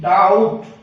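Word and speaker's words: doubt: इसी तरह से अगर टी से पहले बी आ जाए तो भी बी साइलेंट रहता है। जैसे इस वर्ड में डी ई बी T, that. D ओ यू बी टी, डाउट।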